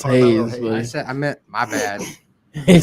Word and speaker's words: Hayes: Well, Roman, Seth, and then Carmelo Haynes as well. Haynes? Or Hayes. Well, we'll help you out here. We'll help you spell it out. It's Hayes.